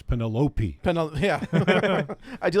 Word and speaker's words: Penelope: That's what they said in the movie with all of their And by the way, it's Penelope. Yeah, I do like that they're It's both Penelope.